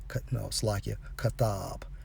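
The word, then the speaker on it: כָּתַב: According to the Hebrew for prescribed is Strong's H 3789, pronounced as kathab.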